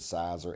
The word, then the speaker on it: Siser: We tended to use it's called Caesar, or sometimes people pronounce it Sizer, Siser.